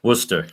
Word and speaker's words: Worcester: is wer wer oh yeah Worchester spelled Worchester pronounced Worcester how how does that work yeah that's where